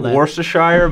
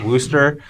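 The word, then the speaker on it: Worcester: pronounce it yeah it looks it looks like worshire but it's it's pronounced Wooster uh this weekend it's somewhere in Massachusetts and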